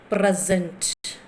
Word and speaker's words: present: Because where you are stressing, suppose your first word present, present. So SENT you are pronouncing lightly, but PRE you are stressing, right?